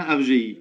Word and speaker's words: Afdjei: Non, non, le D ne sert à rien. FGI.